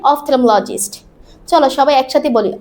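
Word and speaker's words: ophthalmologist: তখন আমরা যাব অফথথেমোলজিস্টের কাছে। কার কাছে? অফথলালজিস্টের কাছে। উচ্চারণটা কি হবে? অফথমলজিস্ট। চলো সবাই একসাথে বলি অফথলমোলজিস্ট।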